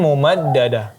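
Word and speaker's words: مُمَدَّدَة: 2 harakat, kemudian amadim mumaddada, tanwin bertemu dengan mim, maka hukumnya idgham bi gunnah, digunahkan lagi selama 3 sampai 4 harakat. Kemudian mumaddada dijelaskan tasydidnya mumaddada, ya begitu cara membacanya.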